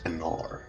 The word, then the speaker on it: Anar: So, changeling's name is Anar. Anar. Ooh. I'm guessing that's spelled A-N-A-R?